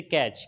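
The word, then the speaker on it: catch: इसी तरीके से कैच, कैच में TCH है आखिर में तो यहाँ पर क्या होगा, टी साइलेंट हो जाएगा।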